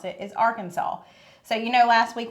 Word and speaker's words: Arkansas: The only acceptable way to pronounce it is Arkansas.